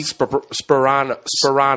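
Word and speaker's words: Tony Sparano: It's Tony Sperano. Yeah, Sperano. Tony Sperano. The P's in the beginning. Oh, okay. Yeah, it's not Soprano.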